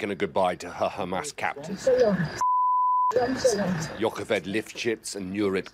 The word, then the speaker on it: Hamas: want you to know you're mispronouncing Hamas in the very particular way that Israeli officials mispronounce it. It's not a ch sound. I didn't say Hamas. I said Hamas.